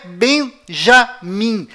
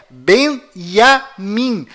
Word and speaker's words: Benjamin: é Tchau Além disso não é Benjamin a pronúncia correta é Benjamin pois lembre-se até hoje não existe em hebraico nenhuma letra com som DJ confira é Benjamin metaniarro